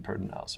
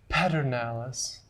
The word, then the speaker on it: Pedernales: five well maybe 700 yards away from the pedernales river and when i say pedernales river i mean pertinent house river some of the non-local people say paternalis that's not how you really say it if